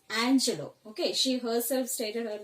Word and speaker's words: Angelou: was written by Maya Angelou. Don't pronounce her name as Angelo, it is Angelou, okay. She herself stated her name as Angelou, okay.